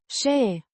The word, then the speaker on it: Și: A conjunction meaning and, pronounced She. with a short I. sound.